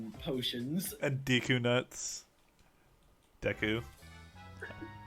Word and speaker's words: Deku: potions and deku nuts deku i like pronouncing it both ways because it pisses all the fans off actually it's decu i forget can you